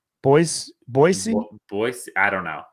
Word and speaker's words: Boise: just now I think I think you're now supposed to pronounce it with the Z I think it's supposed to be with an ass Boise Boise Boise I don't